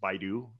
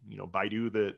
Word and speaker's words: Baidu: I've actually been seeing a lot more traffic from, I think it's pronounced Baidu, Baidu, the Chinese search engine, some more international search engines, things like that.